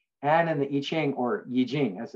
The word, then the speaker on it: Yijing: relief for purification and in the iching or yijing as it's pronounced achilles use the uh use the yarrow